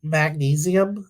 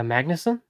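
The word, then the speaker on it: Magnussen: new Buzzy shows yeah Billy magnesium I think that's how you say his name from the franchise uh Magnuson yeah thank you yeah um Steve Martin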